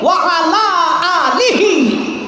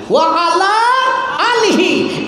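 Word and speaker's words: وعلى آله: পড়তে গিয়া আমার গলত আসল শব্দটা এরা বানাইছে ওয়ালা আলি। ওয়া আলা আলিহি, একটা আইন দিয়া আর একটা হামজা দিয়া কঠিন আছে। আইনার হামজা উচ্চারণ করলে এখানে দুরুদের যে গাদির ফেলা একটা টান মজা লাগে, ই টান আইতো না।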